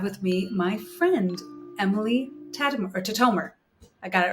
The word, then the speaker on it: Tatomer: And today I have with me my friend, Emily Tatomer.